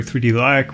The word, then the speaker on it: 3DLac: is spelled wrong but is supposed to be pronounced like the real thing, which but I digress.